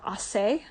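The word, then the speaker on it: Aceh: I know there is this one part called assay it's spelled a c e h that does practice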